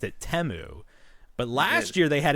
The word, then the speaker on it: Temu: yikes now somebody this year this year they pronounced it temu but last year they had an ad where it was pronounced timu and that's how I'm going to continue to